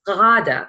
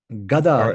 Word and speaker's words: Ghada: my name is Arabic that's pronounced Dada and it means young woman Gaga is donkey yes yes I know